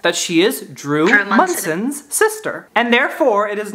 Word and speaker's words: Monson: My name is spelled M O N S O N, but it is pronounced Mson.